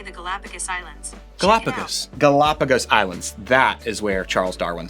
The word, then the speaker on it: Galapagos Islands: Galapagos Islands.